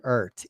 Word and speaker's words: Eart: But if I show you the back here, it says Eart, E-A-R, and then the T is in red. And so I'm going to go ahead and pronounce this guitar brand as an Eart, E-A-R-T.